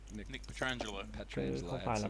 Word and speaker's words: Petrangelo: True Teller or Jason Kuhn and Nick Petrolan, I always get his name wrong. Nick Petrangelo.